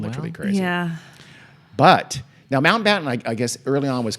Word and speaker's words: Mountbatten: You guys both keep saying Lord Mountbatten. No, Mountbatten. You said it right that time, but the time before that, and the time before that, and the time before that, you guys Lord Mountbatten. Mountbatten.